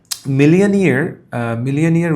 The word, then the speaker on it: millionaire: So মিলিয়নিয়ার উচ্চারণে একটু ভুল হয়েছে, নিয়ার এই অংশে স্ট্রেস হবে।